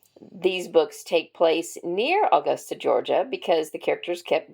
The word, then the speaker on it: Augusta: a Southern accent she didn't know how to pronounce Augusta Georgia she kept pronouncing it austa in all three books and I could not